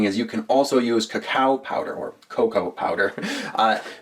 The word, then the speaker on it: cacao: All right, but coffee and cocoa or cacao as it's technically properly pronounced will make a really great rub for your ribs if you're looking for that sweet succulent flavor.